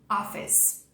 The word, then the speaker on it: office: Office. Office. Olha pra cá para você não pronunciar o E.